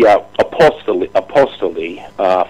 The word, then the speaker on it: Apostoli: It's actually Apostoli, Fred Apostoli. I've heard it Apostoli. It's funny. They're actually, when you type his name into YouTube, there's some pronunciation company that uses his name as their model. I'll send you the link. And this guy with a real nice Italian accent says Fred Apostoli. So I guess that's the true pronunciation.